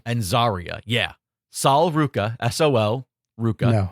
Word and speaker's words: Saul: By the way, he's It's not Saul. It's Saul. Like Spanish for son, I believe. Sol.